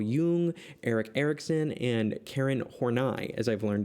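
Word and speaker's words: Horney: alfred adler carl jung eric erickson and karen hornai as i've learned it's pronounced we're going to talk about the personal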